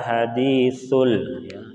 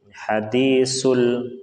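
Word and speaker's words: حديث: hal ataka haditsul, ya di sini yang sering terjadi kesalahan yaitu kita baca sin hadisul. Nah, ini yang kebanyakan kita membacanya kurang tepat. Sa dengan sa beda. Sa itu kita mengeluarkan udara dari celah-celah gigi kita, sa, ya.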